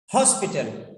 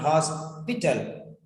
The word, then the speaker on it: hospital: Hospital, not hospital. Okay. Be very careful where you are stressing. Okay. Be very careful where you are stressing. Then, because in nouns, the first letter, first syllable will be stressed mostly.